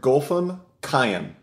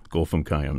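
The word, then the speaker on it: Golfam Khayam: composer's name for me sure gam cayen okay just like it looks gulam cam now she is uh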